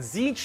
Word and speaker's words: Tzeentch: Next up, you have Tzeentch, and Tzeentch is the god of Tzeentch, that's how you pronounce However, it.